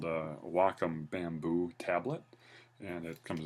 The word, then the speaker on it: Wacom: So this is I'm using uh um the hardware I'm using is the uh looks like a wakecom but it's actually pronounced Wacom.